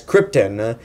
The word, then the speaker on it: Krypton: screen presence and except he can't pronounce Krypton correct Leia throughout the whole movie he keeps pronouncing it as Krypton and I have no